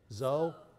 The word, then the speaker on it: Zou: and sherry Joe now how do you say your last name Joe Joe zou zou good right on so okay